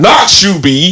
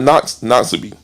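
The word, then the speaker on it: Noxubee: It's not Knox Knox. What is it? It's Noxu. You got to put shoe in there.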